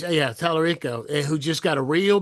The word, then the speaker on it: Talarico: yeah, Talarico who just got a real big boost.